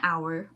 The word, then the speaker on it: hour: doing this today because it is not about what you see it's about what you hear right so we should say an hour or an honor so it is an honor